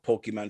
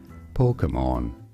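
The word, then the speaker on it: Pokémon: some say it as pokemon pokemon so the emphasis is always on the first syllable but the middle syllable is where pronunciations vary some say it as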